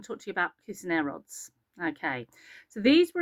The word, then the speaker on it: Cuisenaire: And I apologize if I've said his name wrong there. Um his first name. I know Cuisenaire is right.